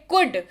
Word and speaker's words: could: अगला शब्द है कुड, COULD, कुड, लेकिन पढ़ते वक्त एल साइलेंट मोड पे चला जाएगा और ये रह जाएगा कुड। स्पेलिंग में लेकिन एल आएगा, ठीक है, उच्चारण बस कुड होगा।